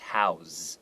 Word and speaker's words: house: Right, and house as a verb, it's usually pronounced house. Okay, there's like a Z sound.